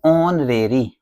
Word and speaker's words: honorary: Pronunciation क्या करेंगे इसको, ऑनरेरी।